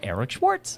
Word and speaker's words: Eric Schwartz: c s c w a r TZ it's pronounced like a DJ Eric Schwarz like that so yeah find me let's let's